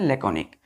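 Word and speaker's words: laconic: ओ एन आई सी लकोनिया पढ़ते हैं इसको प्रोनाउंस कैसे करते हैं लकॉनिक इसका मतलब होता है क्या बच्चों छोटा क्या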